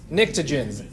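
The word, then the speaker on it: pnictogens: it's just fun okay anything underneath nitrogen is known as the NICTA djinns yeah I mean how often do you get a silent P just because there's another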